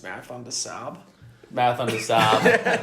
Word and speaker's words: Marathon des Sables: It's actually pronounced Marathon des Sables.